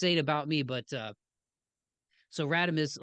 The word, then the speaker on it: Radames: But so Radames, like, and I want to make sure I pronounce that correctly, You right?